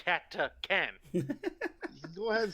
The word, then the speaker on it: Catachan: It is Catachin. And it is pronounced Catacan.